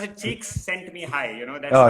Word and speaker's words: Csikszentmihalyi: You can pronounce it. Cheeks sent me high.